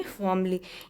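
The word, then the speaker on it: formally: शीला ने फॉर्मली, तो फॉर्मली में यहाँ पे आर साइलेंट होता है, और इसे पढ़ेंगे फॉर्मली यानी शीला ने दृढ़ता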